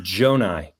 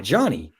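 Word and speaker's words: Johni: But Johnny's name is pronounced Jonai.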